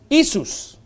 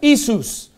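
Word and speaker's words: Ἰησοῦς: and then i said how do you say jesus in greek and he said isus i said you don't say yeshua he goes no he said it's isus now he had a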